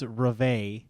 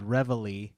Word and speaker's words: Reveille: So if you were to say it in French, it's Reveille, but the song that you play on the bugle in the army is called Reveille.